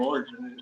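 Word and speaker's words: Lorde: Yeah, Lordy, I don't know Lord. I don't know how to pronounce her name. I think it's just Lord. Guys, But there's an E in the end.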